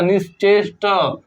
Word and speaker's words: निश्चेष्ट: next शब्द है निश्चेष्ट उच्चारण एकदम ध्यान से करिएगा निश्चेष्ट ठ नहीं निश्चेष्ट य पर था